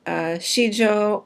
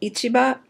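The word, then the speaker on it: 市場: And shijo or ichiba can be a market as in stock market,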